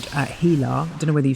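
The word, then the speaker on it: HeLa: It's now called Hila. I don't know whether you say it like that but it's spelled H E L A.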